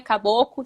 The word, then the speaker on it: caboclo: Aí eu falei, pô, e caboclo, por que não tem o L? Ah, não sei. Sei que a gente fala assim, é caboclo, sem L.